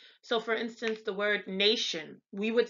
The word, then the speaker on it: Nation: So for instance, the word nation, we would say the word nation and it's pronounced in German Nation. So it's a Tsion, Nation.